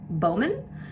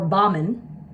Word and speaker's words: Bauman: According to a lot of family members, it's Bowman or Baughman, but I say Bauman, so who knows.